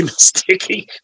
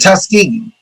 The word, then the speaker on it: Tuskegee: Oh, you're talking about Tuskegee. Mysticky. Yes. Not musty, it's Tusk. T like elephant Tuskegee.